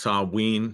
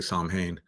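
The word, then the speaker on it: Samhain: somebody uh points out that they say it's pronounced Sabine so I'll take your word for it um I think some people say Tom Hayne um pronounce Sabine represents the thinnest Veil between the spiritual and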